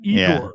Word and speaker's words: Iger: Is it really even with Iger? Did I say his name right? Igor. Yeah, Bob Iger coming back. Iger being back with BC Bob Chapek gone.